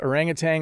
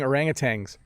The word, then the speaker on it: orangutan: bob pronounced orangutang orangutangs so i i say orangutan why do i say tang at the end orangutan no i definitely say orangutan a few times please orangutan orangutans i'm not saying my pronunciation is correct that's how i would say it not a word i